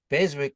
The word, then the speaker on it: Beswick: However, because they didn't spell his name properly, he decided to pronounce the W, and so then we became the Beswicks anyway.